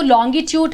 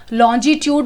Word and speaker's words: longitude: लेकिन यहाँ पे जो लॉन्गिट्यूड है, somewhere it is called as लॉन्जिट्यूड also, सो दोनों ही प्रोनाउंसिएशन सेम है, करेक्ट है.